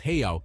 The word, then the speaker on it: real: local tender here is the Brazilian real pronounced heo if you want to blend in with the locals now here's a tip